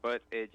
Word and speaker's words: Buttigieg: It's butt edge is how you say it.